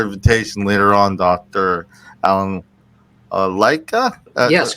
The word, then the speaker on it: Lycka: Is that correct in saying Lycka? Lycka is how I pronounce it.